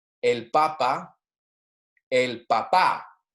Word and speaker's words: papá: For example, like I was just saying, el papa, el papá. El papá has an accent on the final A, P-A-P-A with an accent.